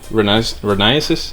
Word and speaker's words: Renesis: So this is the RX-8 Renesis, that's how you pronounce it, plate.